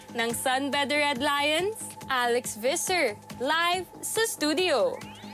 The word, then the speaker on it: Visser: pronounced it in different ways this year i pronounced it as biser because you know that's how the filipinos will do it usually but is it or visser well it's actually pronounced visser but i don't mind it the tagalog with